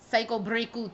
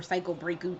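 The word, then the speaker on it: サイコブレイク: Yep, Thursday, October 19th is when Psycho Breaku Ni or Psycho Breaku 2 comes out. Or Psycho Break 2. Psycho Breaku. I do call it Psycho Breaku because I'm sure that's how it's pronounced in Japanese.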